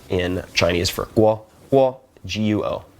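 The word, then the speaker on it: guó: So, there's a system for instance called GR, which stands for Guoyu Romatzyh. And you would say have first tone in Chinese for guo, guo, g u o. Then guo, second tone, should be country, like guoyu, country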